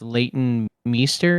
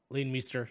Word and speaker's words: Leighton Meester: to say your name I think it's Leighton Meester is how you say it lean Meester yeah yeah she's in uh how